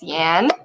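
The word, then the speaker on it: 言: speak is this and the pronounciation is yan so that's like what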